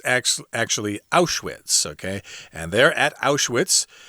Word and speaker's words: Auschwitz: He calls it out with, but it's actually Auschwitz, okay?